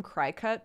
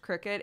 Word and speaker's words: Cricut: it works oh uh i used to call them cry-cut but i think they're suppose it's supposed to be pronounced cricket it's c-r-i-c-u-t they're um machines that